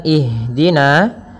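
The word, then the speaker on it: اهدنا: Pada bacaan ihdina di sini ada huruf ha yang dia sukun. Ha ada salah satu sifat yang dia harus kita lafalkan ketika membacanya, yaitu sifat hamas. Hamas artinya mengalir nafas kita, mengalirnya nafas kita. Maka jangan sampai huruf ha ini memantul. Misalkan ihdinas sirata, ya. Akan tetapi alirkan nafasnya ihdina.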